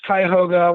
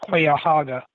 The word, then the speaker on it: Cuyahoga: It's Cuyahoga, which rhymes with by a toga, not Cuyahoga, which is what he said.